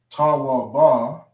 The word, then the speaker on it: tawab: So instead of saying ta wa ba, we drop the syllable of the ba. Okay? We drop the syllable of that last character that's connected. So we don't say ta wa ba, we say tawab.